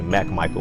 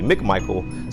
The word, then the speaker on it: McMichael: first name it says everybody usually always mispronounce my last name and say Mack Michael when it's really McMichael so I put an